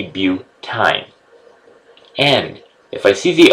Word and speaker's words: butyne: YNE is pronounced ine. So if I was C4H6, then I would be butyne.